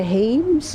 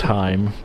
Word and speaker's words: Hames: Of the Hames or the? It's pronounced Heim, but Oh.